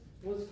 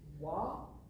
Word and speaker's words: Loir: This is the Wa, I believe that's pronounced, river.